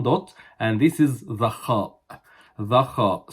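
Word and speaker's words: خ: Okay, above this bar in the middle, one dot, and this is the khaa. The khaa. So it is pronounced as kha, kha, kha.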